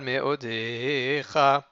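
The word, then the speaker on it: מאדך: Uvrol nafshecha, uvrol meodecha. Meodecha, il est milléael, c'est-à-dire qu'il est paroxyton, mais odecha, pas mais odecha.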